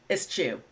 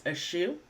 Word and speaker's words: eschew: himself to charitable work ISU or I've also heard this pronounced as ISU both pronunciations sound completely natural to me as an American English speaker so go ahead and make your choice but most dictionaries are using ISU so that is what I'm going to stick with so